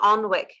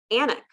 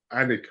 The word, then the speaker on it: Alnwick: Who knew that I said the Alnwick rose initially, but then I later found it's Annick, the Annick rose.